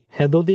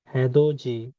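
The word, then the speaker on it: 해돋이: হ্যাঁ দো জি, হ্যাঁ দো জি, হ্যাঁ দো জি। সানরাইজ, সূর্যোদয়, হ্যাঁ দো জি, হ্যাঁ দো দি না হয়ে এটার উচ্চারণ হ্যাঁ দো জি।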